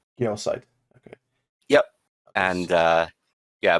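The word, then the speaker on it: Gyossait: of it um but the uh cor correct pronunciation is geosite geosite okay yep and uh yeah but I'm not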